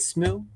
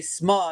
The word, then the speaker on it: Smu: Isn't that how you say it, Smu? yeah. Smu. Oh, I was about to say Sma, and it's like, I don't know if he wants to go that far.